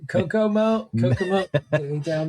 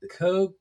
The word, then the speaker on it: Kokuho: No, this is why I gave this one to you, to hear you mispronounce this. Let me try it. Kokuho. There you go. Kokuho. It's a Japanese. It's a Japanese film.